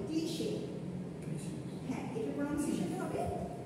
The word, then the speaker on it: cliché: যেমন দেখেন, এটার উচ্চারণটা আপনার হবে কি বলেন তো, ওয়ার্ডটা দেখে মনে হচ্ছে ক্লিচ বা এরকম কিছু মনে হচ্ছে। এটার প্রনাউন্সিয়েশনটা হবে ক্লিশে। হ্যাঁ, এটার প্রনাউন্সিয়েশনটা হবে ক্লিশে।